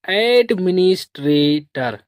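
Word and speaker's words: administrator: तो इसको पढ़ेंगे एडमिनिस्ट्रेटर।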